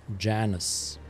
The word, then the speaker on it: Janus: Name's Janus. Rhymes with Annus.